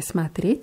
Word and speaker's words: смотреть: Bei смотреть ist die Betonung auf dem Е.